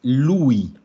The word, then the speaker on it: lui: Entonces, lui. Lui. También lo mismo, no es lui, no, es lui. Cargando ahí bien clarito en la U.